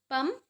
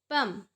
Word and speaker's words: palm: पंप, PALM, L silent रहता है, इसे कहते हैं पंप।